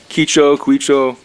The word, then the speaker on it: Quicho: Quicho. Works the Quicho. same way. The way you pronounce it is a key, like a key, and Ki- then cho. Quicho.